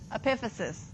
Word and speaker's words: epiphysis: Epiphysis. All right. Make sure you can spell that. No f. It's phy.